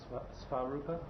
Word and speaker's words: Swarupa: That name you are getting today, Swarupa. means own form, not the body's form. Can you pronounce this word? Svarupa? Yes, Swarup.